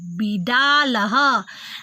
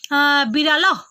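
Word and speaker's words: बिडालः: Bidalaha. And Visarga pronunciation always like Adha Ha. Bidalaha. Ha. Ha. Don't say Birala. Birala. If you are telling Birala, Surya, Sunaka, definitely it is wrong.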